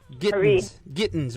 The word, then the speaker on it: Gittins: Marian Gitson, right? Gittins, right? Yeah. Okay, yeah. Did I pronounce that right? Yes, you did.